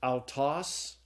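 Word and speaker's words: αὐτός: The fourth diphthong is alpha upsilon. It's pronounced ow, like in sauerkraut. And so the Greek word is pronounced autos.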